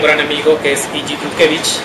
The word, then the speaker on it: Dutkiewicz: Sari, esta vez Ichi nos acompaña un gran amigo que es Ichi Tutkevich. ¿Lo pronuncié bien? Casi, entonces dile cómo está desde el principio. Tutkiewicz, nada más.